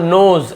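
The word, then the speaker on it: knows: जानता है तो राहुल नोज ऐसे एस या ई एस लग जाता यहां पर भी के साइलेंट रहता है तो इसे नोज ऐसे पढ़ेंगे ठीक तो नाउ नहीं पढ़ेंगे भाई नो ही पढ़ेंगे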